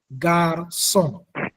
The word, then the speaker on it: garçon: Prenons par exemple garçon. Garçon. Dans le mot garçon, nous avons deux syllabes. Nous avons gare et son.